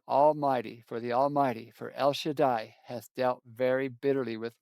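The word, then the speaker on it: El Shaddai: And in Hebrew that is pronounced El Shadai, which is beautiful.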